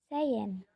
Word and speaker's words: sehen: Kayak contoh lagi melihat itu kan sehen itu bacanya seen.